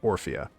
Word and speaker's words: Orphea: Like, which syllable should get the stress here? Was it the first or the second one? Oh, the second one. Orphea.